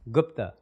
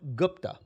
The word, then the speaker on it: Gupta: know i carry it properly how do you pronounce his last name gupta it's gupt gupta gupta gupta yeah i say gupta i think